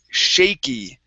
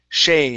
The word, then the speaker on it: shaky: to uh the word shaky Shay instead of shaky Shaky Shaky There you